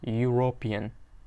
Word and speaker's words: European: Pronounced European. Mana European deb talaffuz qilinadi, deyapti.